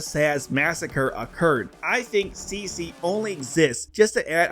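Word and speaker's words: C.C.: her name is ridiculous it's CC not C2 where do you get the toe from God everyone's so stupid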